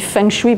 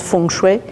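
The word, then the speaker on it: feng shui: fengchoui qui m'a amené je le dis fengchoui par c'est plus facile aux européens en chinois prononce fongchouet Et le fengu c'est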